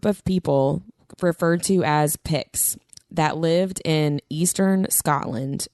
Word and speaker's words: Pict: And that's how I looked it up on Google how to pronounce it. And it is Pict.